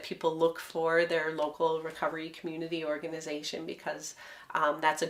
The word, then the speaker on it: Recovree: So Recovery is a great app that's... and it's spelled RECOVREE. Correct. Recovery. Yes. Without an E in there.